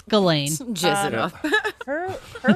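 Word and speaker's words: Ghislaine: It's Galain.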